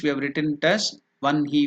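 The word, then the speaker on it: वह्नि: rules in Pini grammar is you have to pronounce it as one he that's why in English we have written it as one he v n hi I the pronunciation is one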